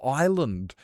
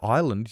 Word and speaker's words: island: Isle or island? Yeah. If you see the word island, you would say is land.